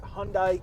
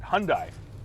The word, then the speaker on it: Hyundai: We say it right, Hyundai. Because in our area, because yes. in the United States, our friends to the south, they say it's Hyundai. But in Canada, we say Hyundai.